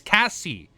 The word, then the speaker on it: Cassie: I never heard someone else pronounce Casey like that. Texas speech should help. Am I saying her name wrong? Oh, it's Cassie. Is it Cassie? Future reference. Wait, is it Cassie, not Casey?